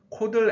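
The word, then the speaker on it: chord: 확인할 수 있습니다 다음은 코드를 에러 la 주 입니다 코 들은 현 모양의 있다는 의미인데요 발음은 코드 에 가깝습니다 코드를 에러 레이 션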